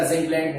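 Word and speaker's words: zinc blende: जिंक ब्लेंड बहुत important है, जिसको जिंक ब्लेंडी भी बोलते हैं उच्चारण में।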